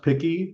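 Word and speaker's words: PIQI: Um I'm here today to talk about the patient information quality improvement framework or picky and it is pronounced picky just like being picky of being a picky eater.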